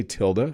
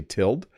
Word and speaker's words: tilde: So I say tilde. Some people say tilde.